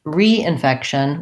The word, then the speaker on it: reinfection: shun infection and then re-infection we may do some secondary stress on the re re-infection the primary stress is still on effect but this re prefix in this word sounds like a tense e re-re-infection infection and re-infection